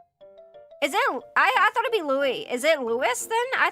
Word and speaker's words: Louis: Louis, the S is silent in French, but in other parts of the world. Okay, so I was pronouncing it correctly, so it is Louis.